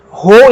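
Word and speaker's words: ὁ: Essa aspiração vai fazer com que nós pronunciemos essa vogal com um som de RR ou um som do H no inglês antes dela. Rho.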